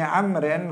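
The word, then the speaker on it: عمرو: Ibnul as Abdillah IBN Amrin radhiallahu anhuma kalau ada wawunya bacanya Amr Amrin amrun Tetapi kalau enggak ada wawunya membacanya Umar di sini ada wawunya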